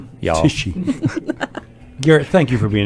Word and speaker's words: Tichy: Garrett Tichy, pronounced Tichy. Y'all. Tichy.